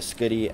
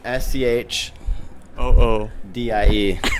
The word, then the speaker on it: Schoodie: Why don't you check out the site and you can see I can wear the Schoodie as a bag.